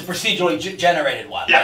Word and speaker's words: procedural: A fixed, well, you can produce, or do you pronounce it in English, producial? Procedural.